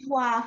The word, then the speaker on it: Ivoire: How do you pronounce the name? Ivoire Foundation. Ivoire Foundation.